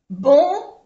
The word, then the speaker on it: bon: También, no lo he dicho antes, bon lleva aquí una vocal nasal, O-N, on. Bon.